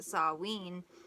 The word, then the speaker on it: Samhain: Samhain, pronounced Samhain, and was on November 1st.